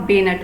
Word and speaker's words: bayonet: तो जो ये नाइफ है इसको आप बेनट बोलते हैं।